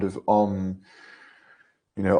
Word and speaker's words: Om: You know, Om is comprised of 4 syllables as a vibration, as a fluctuation. First sound is the A, it's A-U-M. Second, U. Third, M. Fourth syllable, the inexpressible, the ineffable, is symbolized by silence.